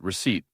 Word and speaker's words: receipt: Receipt, with a with a silent of P.